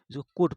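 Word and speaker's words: could: कैन का कुड हुआ इसको कुड ल होता है ल साइलेंट हो जाता है कुड पढ़ते हैं कुड नहीं पढ़ते कुड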